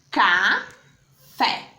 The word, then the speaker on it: café: E qual foi a sílaba que Pro pronunciou com mais força? com mais intensidade. Café. Fé. Por isso que a sílaba tônica das palavras é a sílaba que é falada com mais força, com maior intensidade.